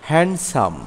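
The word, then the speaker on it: handsome: judgement judgement অর্থ বিচার আরো কিছু শব্দের মধ্যেও ধি অনুচ্চারিত থাকে যেমন এইচ এ এন ডি এস ও এমই হ্যান্ডসাম এখানে এন এর পরে ডি অনুচ্ারিত আছে হ্যান্ডসাম হ্যান্ডসাম অর্থ সুদর্শন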